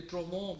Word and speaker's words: Trouvons: ये जो कंपनी थी इसका नाम था ट्रोवों, इसकी जो स्पेलिंग है TROUVONS, और मैं अभी डॉक्टर मज़ाहिर साहबा से इसका समझने की कोशिश कर रहा था, तलफ़ुज़ ये ट्रोवों बेसिकली फ्रेंच जो है लगता है, लेकिन ये कंपनी थी